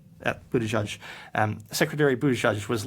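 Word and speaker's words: Buttigieg: transportation whose name I unfortunately have never heard pronounced in Buddhaj Buddhaj um secretary buddh judge was like literally uh replying to him directly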